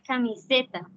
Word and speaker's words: camiseta: o Cómo se pronuncia se pronuncia camiseta haciendo énfasis en la sílaba s siguiente seriedad siguiente terminal